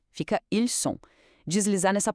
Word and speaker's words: ils sont: Já ils sont significa eles são e tem o som puro de S, sem nenhuma ligação sonora extra. Fica ils sont.